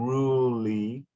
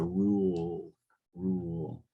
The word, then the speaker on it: rule: pronunciation of rule because you were saying ruly but the E is silent and in the second time you said it corrects the rule rule okay one sixteen illuminaries